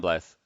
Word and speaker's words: Blyth: No, it's Tom Blyth.